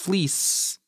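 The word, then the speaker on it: Fliess: Fleece. I should have done that better. How do you spell that?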